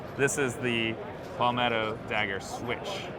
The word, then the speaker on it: SWCH: is the Palmetto dagger switch so swch I pronounce it switch but what's really awesome